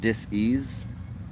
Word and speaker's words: disease: uh psychology and um the word dis-ease yes that's how you say it properly a dis-ease not sitting